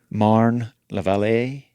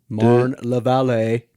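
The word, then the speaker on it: Marne-la-Vallée: How would someone like me pronounce what you just said? Marne la Vallée Marne la Vallée de Meaux.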